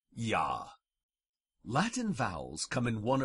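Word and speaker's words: ja: sound this is like German J is pronounced with a Y as in the German word for yes yah Latin vowels come in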